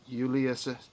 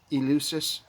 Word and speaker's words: Eleusis: ancient secrets that the ancient Greeks participated in Ulysses. I don't know how to pronounce it. Eleusis.